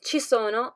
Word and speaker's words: ci sono: sieta brandi and yamo we use che to say there is and chisono to say there are as you can notice our